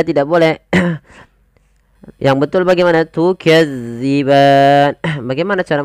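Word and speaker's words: تكذبان: huruf dalal hati-hati ya teman-teman jangan sampai kita membacanya panjang Maaf bukan panjang menggantinya dengan huruf Zai contoh Bagaimana tukazziban Nah itu diganti Padahal dia tidak boleh yang betul Bagaimana tukadziban bagaimana cara membacanya yaitu ujung lidah kita agar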